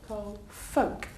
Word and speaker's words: folk: you pronounce this word the L is silent if I tell you the L folk F folk do you know folk say folk music what that is